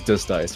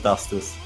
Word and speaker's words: Dust Ice: Actually, just a clarification, is to pronounce Dust Ice, it is Dust Ice, right? That's what I've been calling him. And... Yeah, just dust. Two words just put together, not Dustis.